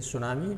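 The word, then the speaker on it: tsunami: और ये वर्ड जो है ये जैपनीज़ वर्ड है, इसमें टी साइलेंट रहता है और इसीलिए इसको एस से शुरू करते हैं सुनामी, लेकिन टी इसमें लगाना पड़ता है।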